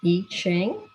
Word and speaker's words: I Ching: And all of these tap into the ancient knowledge that comes through what's called the I Ching. It's spelled I-C-H-I-N-G, the I Ching, which is the oldest book of divination or ancient wisdom, which is incredible.